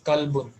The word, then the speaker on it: كلب: It is not kalabun. It is kalbun. كلب. Okay. There is sukun on lam.